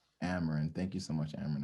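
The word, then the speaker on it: Amryn: name correctly it looks really hard it's just ameren amaran thank you so much aaron i appreciate you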